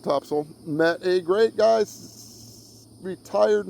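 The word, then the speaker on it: Topsail: Uh in Topsil, where they call it Topsel. It's spelled top sail. Uh T O P S A I L. Locals call it Topsil.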